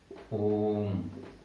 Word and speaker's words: ओम: जैसे आपने ओम बोला, यहाँ पे देखो ओम की इस 3 का मतलब क्या है कि इसका उच्चारण ओ का 3 बार किया जाए, ठीक है।